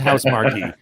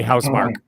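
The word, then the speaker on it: Housemarque: on the bilingual thing going no no it's pronounced house marquee but all the uh americans they all say house mark it's house now that you got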